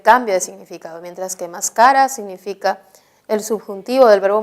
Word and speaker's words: mascara: Acá tenemos la palabra mascara, mascara, que tiene el acento en la penúltima sílaba, se ha depositado el